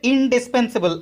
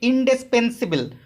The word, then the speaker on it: indispensable: Which of the following spelling is correct, ওয়ার্ডটা হচ্ছে ইনডিসপেন্সিবল, আমরা উচ্চারণটা করি ইনডিসপেন্সিবল, ওই জন্য আমাদের স্পেলিংটা ভুল হয়ে যায়। Right প্রোনাউন্সিয়েস ইনডিসপেন্সাবল, সো the right answer is option C, INDISPENSABLE।